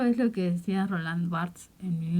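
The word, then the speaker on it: Barthes: hasta que llegó Roland bartz creo que se pronuncia barts No lo sé en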